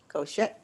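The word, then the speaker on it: חושך: Koshek.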